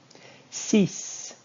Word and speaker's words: six: Six. Six. You are going to be saying the X in this one.